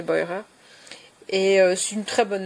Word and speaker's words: Beurer: Euh al je sais pas si on dit Burer en français mais je pense qu'elle doit se prononcer Boyer.